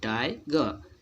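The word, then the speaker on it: tiger: दूसरा आप ले सकते हैं टाइगर बोलते हैं, टाइगर नहीं बोला जाता है, ई आर साइलेंट रहता है, इसको हम टाइगर पढ़ते हैं। टाइगर, ग के बाद थोड़ा सा आ बोल देते हैं, टाइगर, ठीक।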